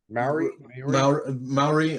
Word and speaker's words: Maori: Maori. I think it's pronounced Maori, and then Maoli with an L was the tribe in Hawaii.